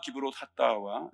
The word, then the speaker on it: 기브롯 핫다아와: 오늘 말씀을 가지고 만나와 기브롯하와라는 제목을 함께 은혜를 나누겠습니다.이 만나와 기브롯 핫다와 좀 발음도 어렵고 그런데 여러분들이 끝날 때쯤이면 입에 좀 붙었으면 좋겠습니다.